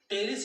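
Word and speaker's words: Pteris: टेरिस इसको बोलते हैं, पी साइलेंट रहता है, टी से स्टार्ट करते हैं टेरिस।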